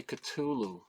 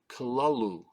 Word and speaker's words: Cthulhu: so of uh Cthulhu or do you say Cthulhu it's actually supposed to be pronounced kalalu kalalu according to uh uh uh Lovecraft HP